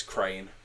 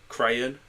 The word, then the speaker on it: Craen: It's not spelt like a crane, like a bird, but it's spelled Craen, which I read that as crane. Crayon? Oh no, crane is the way I pronounce that.